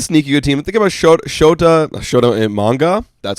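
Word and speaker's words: Shota Imanaga: Think about Shota Imanga. That's how you pronounce his name, I think.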